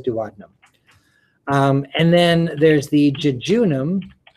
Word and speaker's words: duodenum: it starts with the duodenum which is probably more accurately pronounced duodenum but everybody says duodenum and then there's the